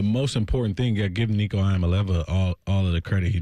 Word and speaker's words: Iamaleava: I'm Nico Iamaleava, and the correct way to pronounce my last name is Iamaleava. Iamaleava.